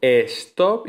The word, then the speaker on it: stop: En los anglicismos se escriben igual, stop y sleep, pero se pronuncian con esa E protética, con ese sonido E protético, stop y sleep.